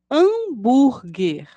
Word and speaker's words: hambúrguer: som da letra h Hambúrger começa com H mas ouvimos no início da pronúncia o som das letras a e letra M assim acontece com as